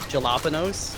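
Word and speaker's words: jalapeño: It's like I call jalapenos, you know. Yeah. Like I'll actually say jalapeno even. Are you actually kidding me with this bullshit, though? It's also a vagina. Oh, Ricky, the J is silent.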